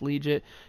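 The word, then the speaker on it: Liuget: And at number 15, we have the Chargers getting Corey Leggett back. I believe his last name is pronounced Leggett.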